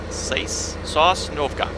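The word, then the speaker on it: Sosnovka: Sash Novka. Okay. Hard to know if he means uh pronounce that with a long or short a,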